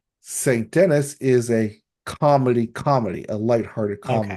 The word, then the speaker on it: Denis: Denise, It is pronounced Dennis. They say Dennis on the show.